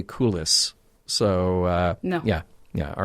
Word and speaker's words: coulis: However, coulis is pronounced coulis, not coulis.